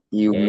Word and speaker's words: humid: Humid. Okay. Humid. That's humid. Jadi bacanya pakai u ya. Humid.